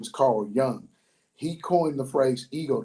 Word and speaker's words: Carl Jung: think his name is Young, even though it's spelled with a J, I think it's pronounced with a Y. So I think his name is Carl Jung.